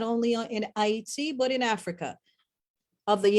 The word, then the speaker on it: Haiti: The point of the matter is, we've always, as Haitien or Haitian, for those who don't understand what that means, I don't use the word because that wasn't his original pronunciation, right? Haiti is the original pronunciation.